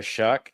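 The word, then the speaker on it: Shough: The New Orleans Saints did get Tyler Shuck. That's spelled with a GH for those of you who hate the American English language.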